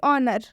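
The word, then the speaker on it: honour: जैसे कि ऑनर, काफ़ी सारे स्टूडेंट्स इसमें गलती करते हैं, इन सारे वर्ड्स में गलती करते हैं, सब में एच का प्रोनाउंसिएशन कर देते हैं, जिनकी वजह से उनका प्रोनाउंसिएशन गलत हो जाता है। लेकिन आपको ये गलती नहीं करनी है। एच के बाद से कभी भी अगर ओ आता है तो हम उस एच का उच्चारण नहीं करेंगे, इसे हम पढ़ेंगे ऑनर,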